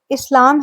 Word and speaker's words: इस्लाम: अह सबसे पहली बात प्रोनाउंसिएशन इसका जो सही उच्चारण है वो इस्लाम है जहां दूसरे सिलेब पर जोर दिया जाता है और लिटरल मीनिंग की